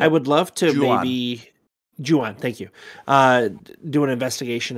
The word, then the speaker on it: Ju-on: ever since I saw it, I can never pronounce it correctly. Either Jinyu, is that how you pronounce it? The Grudge. Yeah, but it's Grudge. The Japanese version. Yeah. I would love to maybe Ju-on, thank you.